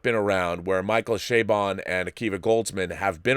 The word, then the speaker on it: Chabon: Michael Chabon, and that's how you say his name because he says it that way.